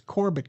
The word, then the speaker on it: Corbitt: I did pronounce Corbett correctly.